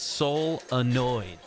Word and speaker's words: solenoid: us on this pronunciation it's soul annoyed solenoids this is a fun